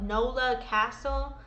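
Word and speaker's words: Knowla Kastle: But it's in they spell it with a K. They call it Nola Castle.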